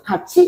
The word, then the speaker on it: 같이: 갓이인데 이것은 치읓으로 발음이 되면서 같이 이렇게 발음되는 거.